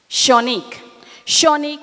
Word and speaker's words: Shanique: Am I pronouncing her name correctly? Shanique, thank you.